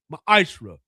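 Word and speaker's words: ma'aser: Means 10th in the Hebrew is pronounced ma'ashra.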